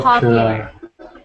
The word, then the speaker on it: popular: a sound popular po popular good so not Pope but pop popular popular good much better one